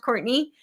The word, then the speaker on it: Courtenay: So, I spell my name a little bit differently. So when you're searching for me, it is important to spell it correctly. I spell it like Cortana. It is pronounced Courtney, but it is c